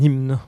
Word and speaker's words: hymne: Hymne, là aussi, le M est systématiquement prononcé.